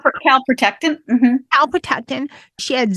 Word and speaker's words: calprotectin: Her test came back great on her calprotectin. Am I pronouncing? Calprotectin.